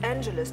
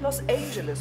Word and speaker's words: Los Angeles: Das heißt Los Angeles, nicht Los Angeles, Frau Rakers.